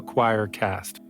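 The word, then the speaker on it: Quoircast: of podcasts called the Choircast. I know, pretty interesting, right? It's spelled Q-U-O-I-R, but it sounds like choir.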